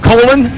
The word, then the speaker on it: Colin: Colon rhymes with Bolan.